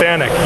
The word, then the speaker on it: FANUC: FANUC, yes.